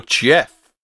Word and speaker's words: Gef: So Geoff or Jeff, as it should be pronounced.